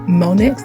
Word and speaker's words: Mmmmonexx: try that one um I think the name is pronounced monics like there's a lot of M's in there but as you can